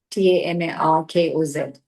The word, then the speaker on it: Tamarkoz: Tamarkoz ka bhi Tamarkoz is the pronunciation.